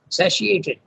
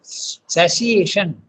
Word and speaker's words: satiation: Satiated. The word is, this is English, it is TI is pronounced as sh. Okay, so satiation, satiated desire.